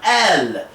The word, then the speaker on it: El: many near eastern cultures worship the god el or el and we're going to get into that all right most commonly pronounced as l and depicted as a